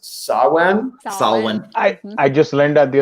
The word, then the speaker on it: Samhain: a gaelic sorcerer and she informed me that that's pronounced sawwan i just learned that